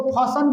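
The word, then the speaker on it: fasten: ठीक इसी तरह इसको बोलोगे लिसन, नहीं बोलोगे लिसन, लिसन बोलता है लेकिन लिसन बोलना, इसको फसन बोलना, इसको हसन बोलना, इसको क्रिश्चन बोलना, क्रिश्चन सेम ना, क्रिश्चियन नहीं क्रिश्चन है, क्रिश्चन, ठीक है ना।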